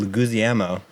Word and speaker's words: Leguizamo: Stars Bob Hoskins as Mario and John Leguizamo.